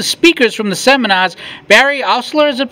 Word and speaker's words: Oursler: Okay, it's day 3 of Pintastic, and I'm here with one of the speakers from the seminars, Barry Oursler, is it pronounced? Yeah, Oursler.